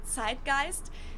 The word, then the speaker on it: Zeitgeist: In German we pronounce it Zeitgeist, and this consists of the word Zeit, which means time, and Geist, which means spirit.